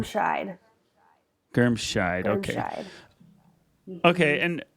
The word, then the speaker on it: Germscheid: Is it Germscheid? How do you say your Close. last name? Germscheid.